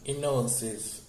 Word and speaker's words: Gnosis: It pronounced Gnosis, Gnosis, Gnosis.